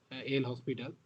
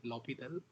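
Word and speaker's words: l'Hôpital: In most of the cases it is mispronounced as L hospital. Especially I read it like that. Later I know it is L'Hopital rule.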